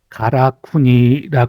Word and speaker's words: 辛國: 가라쿠니 신사로 이름이 바뀌었습니다 물론 가라쿠니 하는 발음은 신국 그러니까 매울 신자의 나라 국자이 신만을 가라쿠니 아고 읽지는 않습니다 한국 대한민국 할 때의 한국도 일본어로는 가라쿠니 되죠이 가라쿠니 신사의 한자를 그대로